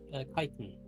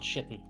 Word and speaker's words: chitin: Yeah, chitin. Titan. Yeah, it's not shitten.